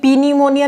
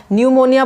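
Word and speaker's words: pneumonia: निमोनिया की spelling है जिसमें पीस साइलेंट राहत है हम कभी पी निमोनिया नहीं बोलते हम हमेशा निमोनिया बोलते हैं यानी की एन से स्टार्ट करके बोलते हैं इस तरीके से इनके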